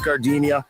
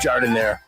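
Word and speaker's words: giardiniera: Don't call it Gardinia. It's pronounced jardinire.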